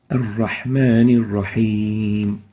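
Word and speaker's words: الرحمن الرحيم: Making it shorter, is basically reducing the whispering characteristic. So saying Ar-Rahman Ar-Rahim is not right. The right way of pronouncing it is Ar-Rahman Ar-Rahim, giving it some length.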